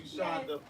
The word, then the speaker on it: Shonda: No, it's like Honda with an S in front, like Shonda Okay, Rhimes.